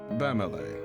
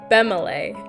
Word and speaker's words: Bemele: Bamele. Hello? I've been saying your name wrong, sir. I am so sorry. Bemele.